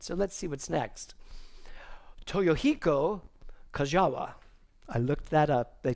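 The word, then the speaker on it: Toyohiko Kagawa: of my head so let's see what's next toyohiko kajawa I looked that up they told me how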